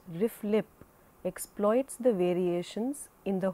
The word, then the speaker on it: RFLP: RFLP, commonly pronounced RIF-LIP, exploits the variations in the homologous DNA sequences.